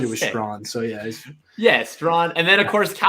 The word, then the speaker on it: Strachan: Is it Strawn or Strachan? Strawn. I always said Strachan. That's what I thought. Yeah, I always said Strachan, and I was wrong.